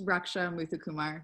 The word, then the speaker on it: Raksha Muthukumar: Raksha, first of all, forgive me for mispronouncing your name and your last name. Help me out here. It's Raksha Muthukumar.